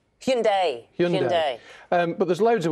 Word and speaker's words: Hyundai: the South Korean the car firm I always pronounce it Hyundai Hyundai well apparently let me read it everyone says it's Hyundai but it's not it's Hyundai Hyundai Hyundai but there's loads of words on here